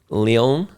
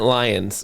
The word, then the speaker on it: Lyon: We've mentioned a place in France many times, Lyon. Leon? Yeah. Yeah. Well, I've been calling it Lions because it's spelled Lyon.